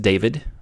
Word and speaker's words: dav1d: decoder called DAV 1d although I want it to be pronounced David I don't know if it's that size supposed to say it or not but I'm gonna